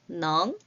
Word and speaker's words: 能: 조건과 상황이 허락되어 할 수 있는 넝이라고 읽습니다. 같이 읽어볼게요. 넝.